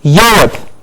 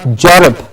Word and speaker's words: Europe: yes yes rip okay then is Europe Europe and not Jenna I've heard it many times in Punjab when the year is inversed with a Jeff so please remember for us if you have to keep correcting the sound many times and reiterate the year sound it is Europe and not gelatin okay Europe it is